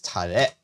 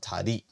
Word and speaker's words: Tare: Tare is spelled with an E, by the way. It's Tare, not Tari. Still in Japanese. Tare.